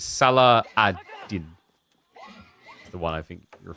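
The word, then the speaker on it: Salah ad-Din: I at least knew how to pronounce it. Oh no, you spelled it wrong though. It's Salah Adin.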